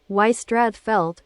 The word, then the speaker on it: Ystradfellte: All right, so you pronounce it you. Apparently, it's Ystradfellte, Wales.